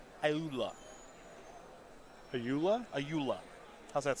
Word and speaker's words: Ayula: I believe that's pronounced Ayula.